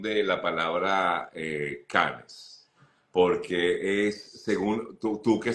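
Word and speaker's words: Cannes: Google Translator y efectivamente se pronuncia can Entonces te hago la misma invitación para que revises y y lo pronunciemos correctamente no no Yo también de verdad Yo decía pensé que era el festival de can no el festival de can el festival de Canes En todo caso como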